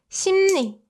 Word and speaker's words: 심리: But like I said, Koreans kind of have difficulty pronouncing like 응르 or 음르, right? In Korean pronunciation, it's kind of difficult to pronounce like 응르 or 음르. So instead, we make it more convenient and replace l sound with n sound.